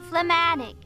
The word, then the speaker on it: phlegmatic: Phlegmatic. Did you pronounce the G? Phlegmatic. Like phlegm? Phlegmatic.